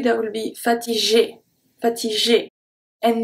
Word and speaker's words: fatigué: Fatigué. Fatigué. Here there is nothing really specific. It's just the G stay a hard G because we have the U after.